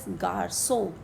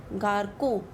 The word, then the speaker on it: garçon: And the sound of C, the K sound, it becomes S. Like the example is garçon. If we don't put this accent, then this same word would have pronounced garco. So to make it C, make it sound like S, we put this accent